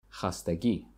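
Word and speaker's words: хастагӣ: one more time fatigue hastagi hastagi hastagi long e at the end so raushan looks fatigue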